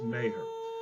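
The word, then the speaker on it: Meagher: Second from the left is Thomas Francis Mayer. It looks like meager when you spell it, but it's pronounced Mayhor.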